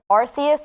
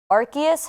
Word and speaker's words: Arceus: then also aj the brand new pokemon legend arceus or arceus however you want to pronounce it is coming out in early 2022.